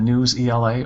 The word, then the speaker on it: Newsela: My teachers really like the News ELA, or Newsela, however you pronounce it, so NEWSELA, and I see that it's no longer always free, so I think that's a good sign.